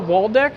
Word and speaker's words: Waldeck: So this is going to be our first episode, and we are with Waldeck.